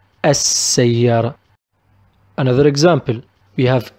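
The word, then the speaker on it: السيارة: On the other hand, we have Sa is one of the alphabets of Al Shamsiya, the solar Al, so we pronounce it As-Sayyara, As-Sayyara.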